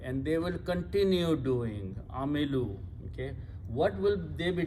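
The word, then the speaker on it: عَمِلُوا: Again, in order to pronounce with the waw, this lam has to be changed to a dhamma. Amilu, they did.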